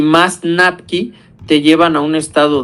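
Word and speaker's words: NAPQI: a formar un metabolito tóxico que se llama Napki. Se escribe así, se los pongo aquí, NAPKI, NQI, ¿vale?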